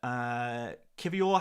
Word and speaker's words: Kivior: Kivior has a hard R at the end.